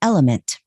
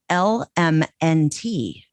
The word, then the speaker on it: LMNT: Support for Messy comes from LMNT.